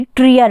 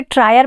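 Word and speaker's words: Trier: Karl Marx का जन्म हुआ था 5 मई 1818 को जर्मनी के ट्रियर में। कुछ लोग इसे ट्रायर पढ़ते हैं, कुछ ट्रियर कहते हैं, जैसा भी आपको ठीक लगे।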